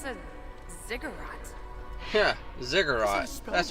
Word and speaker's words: ziggurat: Yeah, ziggurat. That's how it's pronounced.